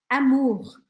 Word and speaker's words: amour: Amor, em francês, a gente fala amour. Amour. Repete aí comigo. Amor. E aqui a gente já tem um ponto de pronúncia para ver.